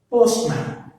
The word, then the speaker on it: postman: Postman. Postman. So post is the first, man is the second. So stress falls on the first syllable.